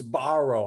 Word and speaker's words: Sbarro: right it's borrow yeah i think you say it's a soft s and then a hard b so it's sbarro i think you're borrowed